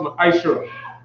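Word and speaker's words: מעשר: Means tenth in the Hebrew, and is pronounced ma'ashra.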